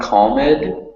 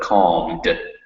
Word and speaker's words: calmed: EDs at the end, remember that the E is not pronounced most of the time. So it's not calmed, but calmed. Calmed.